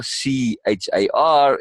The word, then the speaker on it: Char: Charlotte, and then she abbreviates it to Char, CHAR. Like in like the gaming, but it's pronounced Char.